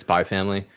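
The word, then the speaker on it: SPY×FAMILY: It's It says spy X family, but it just means spy family. You're not supposed to really pronounce the cross. Whenever you see like Japanese games, X means cross. And so they're usually just saying spy family.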